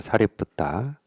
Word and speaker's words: 사리뿌따: 그러면 사리불은 이제 한자 표기로 이제 사리불이라고 표기를 하는 거고, 아마 인도식 발음은 사리뿌따입니다. 사리뿌따.